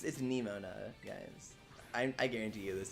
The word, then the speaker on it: Nemona: my pronounced her name nemona her name sounds like aroma hang on hang on